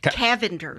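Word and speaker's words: Cavender's: Cal Calvar Cavenders. Cavender. Sorry, always mispronouncing things.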